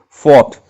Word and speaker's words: fault: fault but to pronounce we'll have to pronounce it as fought just to rhyme with the previous word aught of the previous line now cipher it means